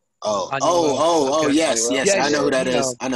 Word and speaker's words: Anuel: Anuel. Oh. Anuel.